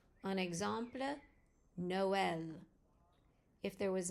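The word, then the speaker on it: Noël: The trama indicates that you must pronounce the two vowels separately in the word. An example, Noel.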